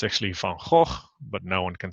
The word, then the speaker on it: Van Gogh: Now, good old Vincent, my fellow Dutchman, whose name is always wrongly pronounced. It's actually Van Gogh, but no one can say that, so they all make it Van Gogh or Van Gogh or whatever it is.